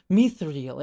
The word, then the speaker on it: Mithril: And they have this big moment, it's like, no, it's actually pronounced Mithril in Elven.